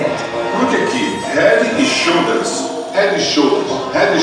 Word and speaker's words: Head and Shoulders: English very well and cannot pronounce the name of the shampoo Head and Shoulder. Head Shoes. Eu tô de brinquedo de bica. So we should have teaching people on the streets how to say it.